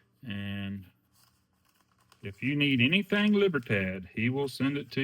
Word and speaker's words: Libertad: O'Neill or not, but he is the Libertard, how you say it? Libertard. I think that's a different scenario. Libertad, Mexican Libertad.